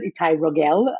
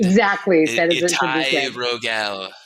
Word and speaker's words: Itai Rogel: Pronounced as Israelis would pronounce it, Itai Rogel, for the English speakers. Said as it should be said. Exactly. Said as it should be said. Itai Rogel.